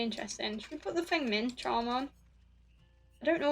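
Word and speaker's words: Feng Min: No, I'm saying it properly. That's it. Fuck it. It pisses me off every time. I swear. Every time I say her name, I'm like, I feel like I should say it right. Everyone calls her Feng.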